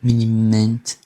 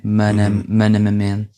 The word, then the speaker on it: minimamente: Porque todos os is são iguais na pronúncia, não é? São sempre i. Mas há aquela vontade de quem fala inglês de fazer um ma, não é? Manamamente.